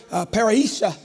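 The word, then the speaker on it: parrhesia: When you look at confidence in this actual text, it is the word paraisha. And when you look at that and it's spelled P-A-R-R-H-E-S-I-A.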